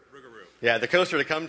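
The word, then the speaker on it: Rougarou: How do you pronounce it? Rugaroo. Rugeroo.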